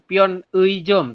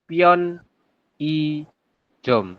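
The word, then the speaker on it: 편의점: adalah I benar ya Jadi dibacanya bukan pion e Jom tapi pion I Jom seperti itu perbedaannya di situ ya kalau misalkan tadi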